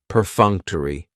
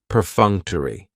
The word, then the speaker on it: perfunctory: the schah and it's going to end with that long e sound perfunctory perfunctory if something is